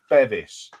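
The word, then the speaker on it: Bevis Frond: one of the thing you know it's not pronounced beis as in Beverly it's Bevis know I've never ever heard them referred to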